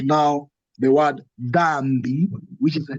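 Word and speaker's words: dhambi: Dambi will be pronounced as D-H-M-B-I, dambi. And this means sin. So it do not come out as dambi. It combines a D and H together.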